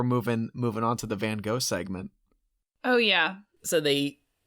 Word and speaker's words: Van Gogh: up top i think there's some dispute as to how his name is pronounced i think in america we say van gogh but i think it's actually more like van gogh um just a little